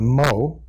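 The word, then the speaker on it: mho: is an OHM and conductivity is the inverse of an oh thus it's spelled backwards we call it a mo but the term that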